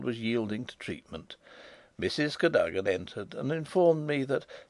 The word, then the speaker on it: Cadogan: Improbable as it may appear, my housekeeper was called Cadogan, a name made locally possible by being pronounced Cadogan.